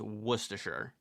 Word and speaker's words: Worcestershire: It's pronounced Worcestershire.